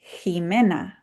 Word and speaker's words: Jimena: This one would be Jimena. And you heard it with the h sound.